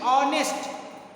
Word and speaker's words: honest: H, sound of H is honest. Honest, not honest.